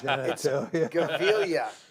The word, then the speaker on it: Gevalia: It's Gavilia.